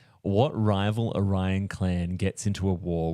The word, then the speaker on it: Orion: Though Question- technically they are Orions. Orions. Yeah. It's pronounced Orion.